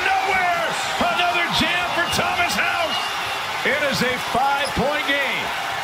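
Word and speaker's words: Haugh: And people watching the game say, wait a minute, his name is Houck. Like the K at the end, it's spelled H-A-U-G-H, but it's pronounced Houck.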